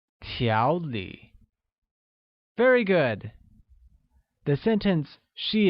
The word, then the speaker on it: 条理: Organized translates as 条理, which is pronounced with a mid-rising tone on a and a falling rising tone on I, like 条理.